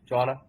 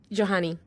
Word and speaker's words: Johanny: I'm curious, Joanna, is that how I pronounce it too? Johanny. Johanny? Okay. Right. Okay, got it now.